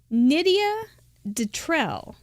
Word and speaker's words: Nydia Detrell: And that was from Nydia Detrell. She put it phonetically. It rhymes with Lydia Michelle. So Nydia Detrell. Thank you.